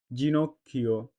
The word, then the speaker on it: ginocchio: উদাহরণ ginocchio, G plus I G, NOC knock, CHI chi o, ginocchio, gelato, G plus E J, L A la, T O to, gelato, gente, G plus E J, N T E, gente.